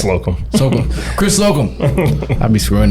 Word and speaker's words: Slocum: of Peak Athletics, Chris, let's say it right, Slocum. That's it, right? Slocum.